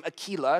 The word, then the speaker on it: Aquila: co-workers of paul now we should probably really pronounce the name akilah it's a latin word for eagle and her name is